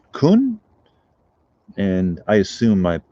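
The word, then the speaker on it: Caen: off and i realized there's also a city in france spelled c-a-e-n which is pronounced kun i went in the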